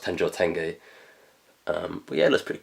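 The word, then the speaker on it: Tenjō Tenge: tenjoy tenge or tenjotenj i believe it's actually pronounced tenjotenge um but yeah that's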